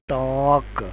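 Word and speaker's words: talk: आवाज ओ की है और इसी तरह टॉक में एल साइलेंट है और टी एल के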